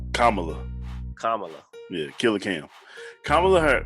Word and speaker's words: Kamala: me out with this kamla Harris not Kamala sorry Kamala you know I say it two ways I say it correctly